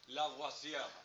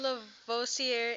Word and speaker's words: Lavoisier: Lavoisier, and the R at the end is like a Antoine Lavoisier, something like that. Okay. So, Antoine Antoine Lavoisier is often referred to as the father of modern chemistry.